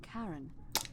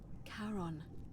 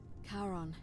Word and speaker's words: Charon: it's just as you described it only your pronunciation is a little off the name you heard wasn't karen it was c-h-a-r charon as in caron the ferryman of the dead karon who in exchange for the right coin helps